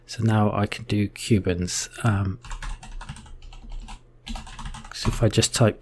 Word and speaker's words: kubens: you a tool called Kubens. So Kubens and also kubectx is power tools for kubectl. So with this we can, I'm not sure whether I should pronounce it Kubens or kubeNS, but it's really like